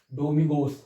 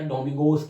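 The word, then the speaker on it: Domingos: डोमिगोस हां मैंने गलत नाम नहीं लिखा है। सही नाम है वो। इसको डोमिगो या डोमिगोस कहते हैं। वो एस साइलेंट वाला हो जाता है कभी-कभी।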